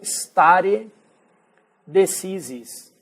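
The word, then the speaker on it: stare decisis: ou estar e decisis você não é obrigado a usar essa pronúncia inglesa da que os americanos geralmente usam é esther decisis vem do latim é esther decisis e quieta não mover então é você pode pronunciar como as pela literalidade do texto é que os americanos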